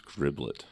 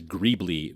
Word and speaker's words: greeblie: So, yeah, I used to think that word was griblet. Griblet. But gribbly sounds way better. I've always read it as greebly, which is spelled Greeblie, and then an S if it's plural.